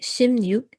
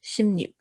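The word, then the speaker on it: 십육: see in brackets i have put shimnut so shimnuk is actually the pronunciation but it's spelled uh the way it's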